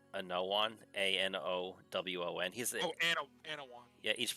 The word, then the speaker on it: Anowon: It's Anowon, Anowon.